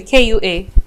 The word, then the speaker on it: Kua: How do you spell it? Just the same way, K-U-A.